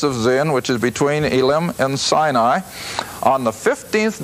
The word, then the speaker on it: Elim: with israel at well in the english it's elim e-l-i-m up there in verse 27 of 15 and the hebrew i guess is pronounced elam but whatever they now